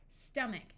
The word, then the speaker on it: stomach: stick an e there stomach note that in this word the O sounds like a short U character a says r